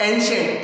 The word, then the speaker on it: ancient: Here you कैन सी the word ANCIENT. The right pronunciation is not ancient, ancient.